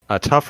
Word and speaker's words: TUF: It is tough in the kind of the Gen Z sense, but it's also tough, TUF, the update framework. So sorry. Yes. Didn't mean to interject. No, that's good. It's hard to pronounce acronyms, I guess.